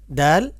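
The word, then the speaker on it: د: এখন সামনে আসেন, দাল জাল, দাল জাল।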